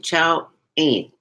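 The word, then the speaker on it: Qiao'an: Well, phonetically, it's Qiao, which is like pronounced as chow as in chow mein noodle. Okay. So, and an, it's A-N. A-N, chow an.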